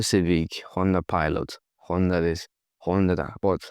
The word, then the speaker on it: Honda: So this is what we know as Honda, Honda Civic, Honda Pilot, Honda this, Honda that. But how do Japanese pronounce this? Well, they say Honda, Honda, Honda, Honda.